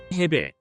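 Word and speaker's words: 헤베: 단위부터 알아볼까요 면적 단위 해배 해배 면적을 나타내는 단위입니다 일제강점기 당시 건설 현장에서 많이 사용되는 단어로 평방미터를 일본식 발음으로 표기하면 베이가 되는데 이을 줄여 해배 아고 발음하였다 합니다이 레베는 1평 방미와 같습니다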